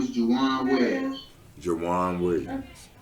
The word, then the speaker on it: Jajuan: The second J is silent.